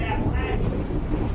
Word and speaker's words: Appalachia: I was born and bred in Appalachia. That's how you say it, Appalachia. Like I'm going to throw an Appalachia.